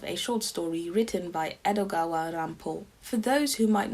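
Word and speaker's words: 江戸川乱歩: from who he took the Japanese pronunciation of his name as a pseudonym, Edogawa Rampo.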